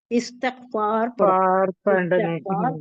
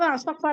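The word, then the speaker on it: استغفار: हुजूर सल्ल वसल्लम ने इस्तकफार करो इस्तकफार अस्तकफुल्लाह ला इलाहा इलायम व कुछ भी नहीं आता तो अस्तकफुल्लाह ही कहिए इसका मजदूर इस्तकफार है लोग अस्तकफार अस्तकफार करती है नहीं वो गलत है ये कैसा है मालूम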